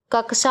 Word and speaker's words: कक्षा: अगला है कक्षा शब्द का शुद्ध उच्चारण क्या होता है? तो कक्षा होता है और इससे हम से मिलके बनता है कच्छ।